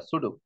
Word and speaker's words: pseudo: এই সুডো যে শব্দটা, সুডো বানানটা কিন্তু পি দিয়ে, PSEUDO, সুডো কোড।